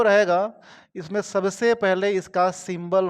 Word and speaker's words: rho: देखो जी, इधर डेंसिटी जो रहेगा इसमें सबसे पहले इसका सिंबल हम लोग याद रखेंगे। सिंबल वो क्या बोलते हैं रो। स्पेलिंग होता है RHO। क्या रहेगा? रो रहेगा। तो रो जहां भी लिखा हुआ रहे, क्या हम करेंगे?